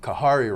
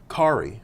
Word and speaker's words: Khari: all the time wrong khari like Atari so in my mind I said Koharu oh yeah fart noise